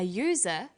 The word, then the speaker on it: user: And where the vowel U is pronounced y, we use a. So we say an umbrella, but a user, because user sounds like it begins with a Y.